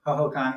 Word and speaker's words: Hohokam: Well, that could be another way to look at, if you see this thing grabbing, is it pronounced Hohokam? Hohokam, yeah.